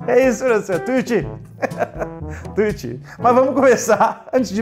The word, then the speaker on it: Tuiuti: a gente vai para Tuiuti, como que se pronuncia isso? Tuiuti. A gente vai pra Tuiuti. É isso, professor. Tuiuti.